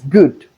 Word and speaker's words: good: The same thing here but the O O D we have here the in place of the O we have the short O but in this particular case we have the long one. So this is good but this is food.